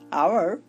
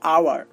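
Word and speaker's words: hour: দেখুন আমি দুইটা উদাহরণ দিয়েছি, আওয়ার, অনেস্ট। তো আপনারা একটু লক্ষ্য করুন, এখানে এইচ বসেছে ঠিকই, বাট কোনো কাজ করছে না, কাজ করছে পরের বর্ণটা। দেখুন এখানে ও কাজ করছে, আর উচ্চারণ হচ্ছে আওয়ার, আর এখানে আটা হচ্ছে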